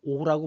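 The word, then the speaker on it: 御: 그런데 이 어자는 좀 따져볼 필요가 있는 게, 일본어에서는 이 어를 오라고 발음합니다.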